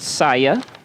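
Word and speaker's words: saille: The letter is, as far as I can tell, pronounced saya.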